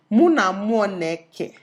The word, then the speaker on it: Muna Moneke: Then I realized that wait, this is an Igbo name. Muna Moneke. Right? Oh, that's how it's pronounced.